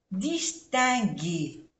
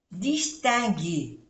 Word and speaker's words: distinguer: Distinguer. Aquí I-N-1, E-R-E, G, G. Esto se pronuncia G. Distinguer.